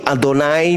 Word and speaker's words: Adonai: Tapi itu cara pengucapannya itu Adonai dan Elohim itu merujuk kepada Yotip.